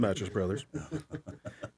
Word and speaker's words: Mathis Brothers: set, kitchen set from Mathis Brothers. We call them Mattress Brothers, by the way. There we go. Just so we say it correctly. Mattress Brothers.